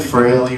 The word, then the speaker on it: Fraley: I had to like make him pronounce it. Fraley rhymes with daily.